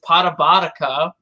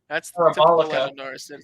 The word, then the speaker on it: Parabolica: Orlando, but Lando can't pronounce it. He says Parabotica. Like, there was a video of Quadrant, and Lando couldn't pronounce Parabolica.